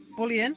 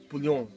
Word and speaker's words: bouillon: This is a bouillon, I think you'd pronounce it. Bouillon. Bouillon.